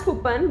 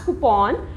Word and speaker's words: coupon: People call it as coupon, but it is not the correct pronunciation, it is called as coupon.